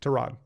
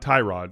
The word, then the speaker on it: Tyrod: Trod. I love that. Like say that again. Trod, not Tyrod.